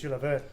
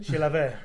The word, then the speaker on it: Chilavert: be Jose Luis Chilavert.